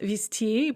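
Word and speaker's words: везти: carry on foot, and viezti, it's pronounced visti, but spelled viezti, to transport by vehicle.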